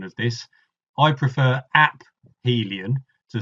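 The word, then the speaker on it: aphelion: away from the Sun some people soften the ph and say aelan but I'm not as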